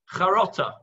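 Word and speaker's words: חרטה: Okay, Charata. Or in the old Yiddish pronunciation, charota.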